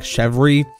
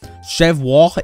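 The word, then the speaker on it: Chevre: Okay, so a lot of people didn't think that it's like Chevry. Chevra is the correct French pronouncing, so you know, there's that.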